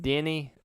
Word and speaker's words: Denis: So now a new rumor has circulated that one of our favorite directors, Denis Villeneuve, who I now have confirmed that he likes his name pronounced Denny Villeneuve.